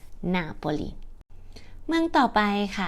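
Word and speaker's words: Napoli: ทาง ใต้ นะ คะ ชาตเลียน จะ เรียก ว่า นาโปลี นาโปลี เมือง ต่อ ไป ค่ะ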